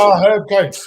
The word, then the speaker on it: Herb Coates: His name is Herb Coates. Yes, yes. I remember. He also make sure you pronounce the H. He's American.